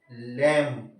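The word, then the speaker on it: lamb: next आ गया टी ओ एम बी क्या silent हो रहा है टॉम आ गया समझ में इसके अलावा लम एल ए एम बी सस वही कंडीशन है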